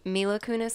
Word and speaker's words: Mila Kunis: comedies and yes it's Mila Kunis that's how you pronounce it she's really problem she's